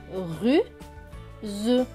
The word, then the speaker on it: ruse: Ici, le S ne va pas se prononcer ce, mais z, parce qu'il y a deux voyelles, une avant et une après le S. Donc, le S va se prononcer z. S et E, z. Donc, ce mot va se lire ruse, ruse, ruse.